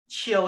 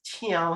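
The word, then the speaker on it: 唱: Can you see the word chill here? And can you see the word chiao here? Different. Okay. Chill. Chill and chiao are actually two different pronunciations for the word to sing in Hokkien.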